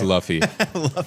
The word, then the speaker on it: Luffy: it's l u f it's Luffy you a fake fan man I even like